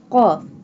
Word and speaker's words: qaf: Qaf. This one qaf will be bold and pronounced from the root of the tongue touching the soft part of the palate.